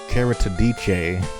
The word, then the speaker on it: Keritedice: going to be as soon as you did carotid dice i wanted to get something unique i don't know i saw i made up something i made a name up character dj that's how it's pronounced character dj all right carrick oh let's